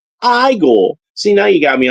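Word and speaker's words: Igor: Well, you must be Eagle, and that's pronounced Igel.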